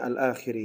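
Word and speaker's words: الآخِرِ: Bacanya alakhiri ya. Kenapa dibaca al-akhiri? Dikarenakan itu adalah susunan idofah lafziyah.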